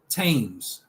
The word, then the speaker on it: Thames: In some cases, th is pronounced just as t. Thames, Thomas, time, Thailand.